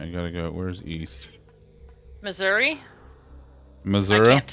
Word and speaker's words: Missouri: Many people will say the correct pronunciation, which is arguable, is Missouri. Very much like it is spelled. But if you're from the South, it's Missouri. Which is gross.